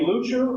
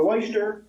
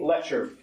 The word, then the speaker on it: Leuchter: a lucher Jr or some pronounce it lyer a few weeks ago he said to me on the phone you can call me lucher or leyer just don't call me leer last February Mr lucher